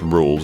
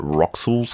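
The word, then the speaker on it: Rouxls: a pretty solid song also was it really that hard for people to grasp the idea of rules card being pronounced rules I know I have the benefit of hindsight here but like come on rules card in a chapter all about playing cards and you still pronounce it rox's card or whatever like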